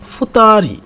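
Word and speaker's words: 二人: এখন 2 পার্সন তাহলে কি হবে, ফুতারি, মানে 2 পিপল, মানে তখন ফুতা উচ্চারণ হবে।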